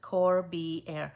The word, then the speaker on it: Corbiere: It's Cor, B as in boy, Air, like A-I-R. That's not how it's spelled, but that's how you pronounce it. Corbiere.